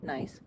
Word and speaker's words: gneiss: like, so most of the rock is gneiss. I'm pretty sure that's how it's pronounced because I've heard that joke before. Gneiss.